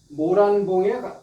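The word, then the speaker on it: 牡丹: 붉은 단이라고 발음할 수도 있고 불불단을 뜻일 적에는 또 란이라고 발음을 하요.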